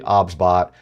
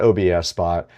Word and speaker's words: OBSBot: The pronunciation of the product is actually OBSBot. It is not OBS Spot.